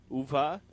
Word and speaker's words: Uwe: And then in Germany they pronounce W's as U, or they pronounce them as va, uva.